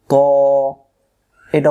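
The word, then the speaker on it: ط: মুখটা গোল হয়ে যাবে তটা মোটা জেগুলো আকার হবে না এটাই মোটা এবার আসেন ত অক্ষরে মাখরাজ আছে ত অক্ষরে জিহ্বা আগা থেকে মোটা করে পড়তে হয় অর্থাৎ জবরে আকার ছাড়া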